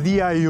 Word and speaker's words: DYU: De CaraXo présente : DYU Stroll 1 | Revoir! Amis, bienvenue sur la chaîne ! Aujourd'hui, avec le soutien de DYU, ou DYU, avec une prononciation plus portugaise, nous avons le DYU